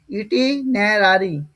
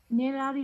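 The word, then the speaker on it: itinerary: আচ্ছা আচ্ছা, এটার উচ্চারণটা কি হবে? ইটিনারারি। ইটিনারারি মানে ইটিনারারি মানে কি বললাম বলো? মনে আছে? দাদা নেরারি হয় না? হ্যাঁ, ইটিনারারি বলো। নেরারি হ্যাঁ, বলতে পারো, সমস্যা নাই। ইটিনারারি বলাটাই ভালো। ভ্রমণ সূচি, হ্যাঁ।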